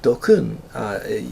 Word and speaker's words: DQN: Dokun, you pronounce that DQN is for Dokun, and Dokun means kind